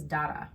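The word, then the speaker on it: Dara: and read it and it's spelled in the book d-a-r-a like darwin but it is very clearly pronounced in the audio book is data which is right it's just for english speakers like it's just right i decided to trust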